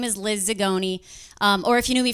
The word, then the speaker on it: Zagone: If you don't know me, my name is Liz Zagone. Or if you knew me from high school, it's Zamboni. So. Get it? Zamboni cuz it rhymes with Zagone.